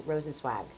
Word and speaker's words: Rosenzweig: And the play, Wendy pronounced the last name of the characters in this play, Rosenzweig. So it's not a swag and it's not a swag. It's a little in between Rosenzweig. Now, you're a bit of,